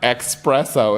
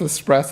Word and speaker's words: espresso: stuff or it's like it's not express oh it's espresso I was like just